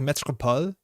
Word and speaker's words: Métropole: Actually kind of neither. It's like Métropole. Métropole is French.